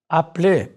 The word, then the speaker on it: appelez: Note how the E instable is not pronounced. Appelez.